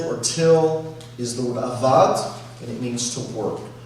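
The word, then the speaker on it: עבד: The root term is pronounced avad.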